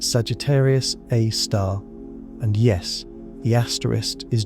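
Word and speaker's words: Sagittarius A*: It has a name, Sagittarius A Star, pronounced Sagittarius Aar.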